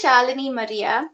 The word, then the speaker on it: Shalini Maria: so it's it is shalini maria that's pronounced like melanie like charlie maria and you can find